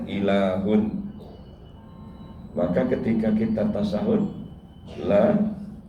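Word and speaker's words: إله: Sebenarnya ada kata untuk mengatakan Tuhan dalam bahasa Arab itu adalah alif, lam, ha. Orang membacanya ilahun.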